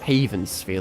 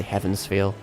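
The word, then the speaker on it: Heaven's Feel: why I say haven I swear many many years ago I heard someone just call it Haven feeli and I've just been calling it that ever since I don't know if the pronunciation really matters but should just say Heavens feel spell [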